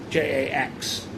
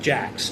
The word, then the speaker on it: Jax: And then warmed up his Virgin Mobile KYOCERA Jax, because Jax is spelled not G-A-C-K-S, it's J-A-X. And it's not Jax, it's Jax. You know, the cool sound, the cool guy sound.